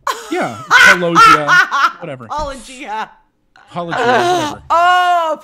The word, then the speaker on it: Paulogia: Did you call him Paulogia? Yeah. Paulogia. Whatever. Paulogia. Paulogia. Whatever. Oh, put that on the soundboard. I love it when people mispronounce it. My emphasis is on a different syllable.